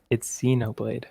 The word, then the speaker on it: Xenoblade: It's Xenoblade.